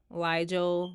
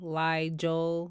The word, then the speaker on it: Liel: instead of an a liel liel like Nigel Tavon Tavon like Kon